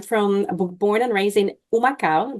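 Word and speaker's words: Humacao: born and raised in umaka that starts with an H but the H is silent so umaka Puerto Rico that's in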